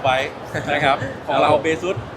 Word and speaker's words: Baseus: ฝาก แ ก็ เุ อ่าน ว่า เบซ นะ ครับ ผม แล้ว ก็ ถ้า คิด อะไร ไม่ ออก นึก ถึง หน้า น้อง กัฟ ไว้ นะ ครับ ของ เรา เบซ มี น้อง กัฟ เอ